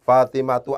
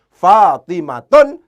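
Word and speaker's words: فاطمة: rumun shorif karena demikian cara bacanya tidak boleh fatimatun tapi harus dibaca fatimatu itu semacam itu ya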